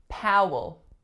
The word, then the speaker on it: Powell: Coleman Coleman next one Powell Powell same vowel sound as in Howard so it's out and then the second vowel is a schwa Powell this L at the